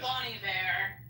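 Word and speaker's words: Bon Iver: Ben what's his name his name is Bonnie Bear yeah it almost throws me off because it's spelled like Ben she had him come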